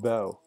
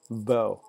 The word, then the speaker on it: bough: That's a lot of letters for a very short sound. Bow. Bow. You just spell that B-O, you know.